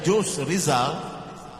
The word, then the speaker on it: Jose Rizal: Kalau sebut Filipina, di samping Ferdinand Marcosnya, kita tidak lupa kepada pejuang kemerdekaan Filipina, Jose Rizal. Walaupun ejaannya Jose Rizal, tetapi the pronunciation ialah Jose Rizal, dengan gerakan nasionalisme Katipunan, yang nama panjangnya saya hafal sampai sekarang.